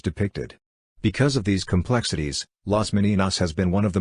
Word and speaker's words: Las Meninas: las meninas pronounced las meninas Spanish for the ladies-in-waiting